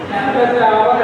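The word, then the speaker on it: hour: आवर है, यहाँ silent letter है, स्पेलिंग है एच ओ यू आर, but pronunciation is आवर, that is vowel sound, vowel sound है, इसीलिए यहाँ एन करेंगे।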